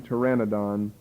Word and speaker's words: Pteranodon: we can mention but the Pteranodon starts with a P you probably have heard of the bird but maybe don't recognize it pronounce with the T but starts with a P tyranidon that has become extinct